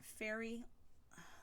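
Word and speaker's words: Faerie: it's in the color fairy say fairy cake so yes fairy cake in this it's spelled F a e RIE cake so Michaels had this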